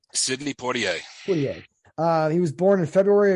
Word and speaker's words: Poitier: I looked on YouTube for the correct pronunciation. I think it's Sidney Poitier. Sidney Poitier.